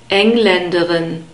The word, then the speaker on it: Engländerin: Here we have the stress on the first syllable, Engländerin.